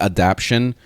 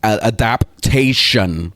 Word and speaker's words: adaptation: it is a adaptation I'm going to say it correctly now cuz I realized I was saying it wrong this whole time it's called I was calling it adaption um so yeah it's adapation all right finally so